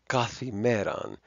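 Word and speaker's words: καθ' ἡμέραν: So anyway, so kata imeran, the T and the H will form a theta, which you see there, and we wind up with kathimeran, which many modern Greeks will just pronounce as kathemera, every day, meaning every day or according to the day.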